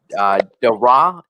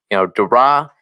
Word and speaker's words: Daire: Dara, am I saying that right?